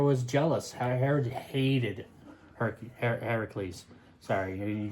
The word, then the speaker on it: Heracles: name supposed to be Heracles Heracles because he is the son of Hercules is a well here's the thing Hercules is the Roman pronunciation Heracles is the Greek pronunciation um his his father